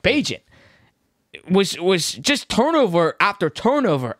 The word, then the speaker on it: Bagent: Bagent was just turnover after turnover after turnover.